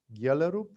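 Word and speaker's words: Gjellerup: book to read carl galerup it's written g j that's how danes pronounce and just to see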